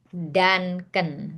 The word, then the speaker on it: Duncan: Danken ya bacanya.